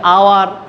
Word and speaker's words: hour: এখন কনসোনেন্ট হলেই যে এ বসবে তা না, যদি এইচের উচ্চারণ অয়ের মতো হয় তখন তার পূর্বে এন বসবে। যেমন an honest man, an honourable person, an আওয়ার, এই যে অ্যান আওয়ার, HOUR, অ্যান আওয়ার।